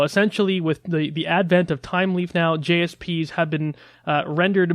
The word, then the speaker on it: Thymeleaf: and this is the technology called time leaf and time is spelled like the Herbet I'm with a th Y a me time leaf basically